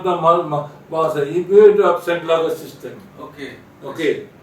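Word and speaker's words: Sainte-Laguë: They have adopted in 2014 that the French mathematician, his name is André Saint-Lague, I pronounce it French pronunciation, and André Saint-Lague, Right.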